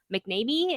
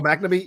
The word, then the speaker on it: McNamee: According to the Deadline, Louis Tan, Jessica McNamee is how you say her last name. Oh, McNamee, yeah.